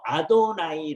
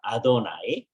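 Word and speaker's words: אֲדֹנָי: 만 지 모르는데 그걸 전부 다 돌려 가지고 아도나이 라고 발음을 아 아도나이 뜻은 나의 드리며 그럼 이제 어떻게 되냐면 아돌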